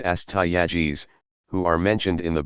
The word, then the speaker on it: Astyages: Their last two kings were Cyaxares and Astyages, pronounced Cyaxares, and Astyages, who are mentioned in the Babylonian chronicles.